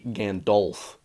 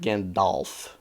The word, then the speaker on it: Gandalf: that, it would be Gandolf. Gandolf. I'm not pronouncing him like that. Gandalf. The A is ah, okay? I'm pronouncing it like ah, not O.